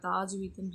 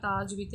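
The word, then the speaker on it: تجويد: தாஜ்வீத்துன்னு இருக்குது, சாரி, தஜ்வீத், சரிங்களா? தாஜ்வீத் இல்லை, தஜ்வீத் என்ன அப்படின்னா விதிகளில் ஒரு முக்கிய அம்சமாகும்.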